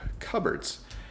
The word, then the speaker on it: cupboards: Up here, you'll notice that we have cupboards. So cupboards, notice it's not pronounced the way it looks.